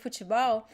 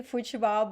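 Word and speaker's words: futebol: so here in portuguese the word fuchibao even though we pronounce ball we don't write as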